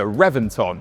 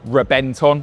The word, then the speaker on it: Reventón: And that story starts here in 2007 with the Revventon or Rebenton if we're doing proper pronunciation.